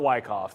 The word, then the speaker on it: Wyckoff: I think it's spelt Wyckoff. So I don't know exactly which way it's supposed to be pronounced, but I like Wyckoff because it sounds cooler.